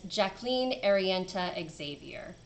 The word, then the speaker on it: Jacqueline Arienta Xavier: I'm gonna go with the version that my incredible narrator does for the audiobooks, and it's Jacqueline Arienta Xavier.